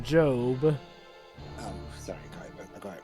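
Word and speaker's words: Gob: Actually, Dwibs, his name is pronounced Job.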